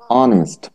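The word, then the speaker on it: honest: ঠিক নয় লজ্জাস্কর বিষয় বুঝতে পারছেন জি স্যার অনেস্ট না তাহলে আজকে থেকে ঠিক হবে উচ্চারণ টা কি হলো অনেস্ট অনেস্ট বলেন তো আমার সাথে অনেস্ট ম্যাম ইয়েস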